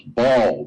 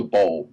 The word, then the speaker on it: Baal: And we could, and so the sun was a Baal, B-A-L. But it's spelled B-A-L-L, a Baal. But Baal is Baal, B-A-L. And B-A-L in the ancient languages of the world, in the Middle East, was the sun.